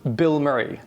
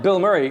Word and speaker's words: BILMURI: conversation goes, oh yeah, they're called Bill Murray. You mean the actor? No, I mean, it's spelled B-I-L.